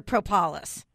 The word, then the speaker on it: propolis: And so for people that don't know what Bee Propolis is, am I saying it properly? Is it propolis or propolis? Most people pronounce it propolis, but as it is with